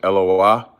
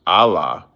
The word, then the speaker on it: Eloah: It's pronounced Eloah. It's not pronounced Allah.